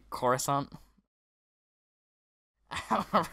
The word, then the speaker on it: Coruscant: Wonsup, he wants to play on, how do you pronounce it, Croissant or something? When he really wants to say Coruscant.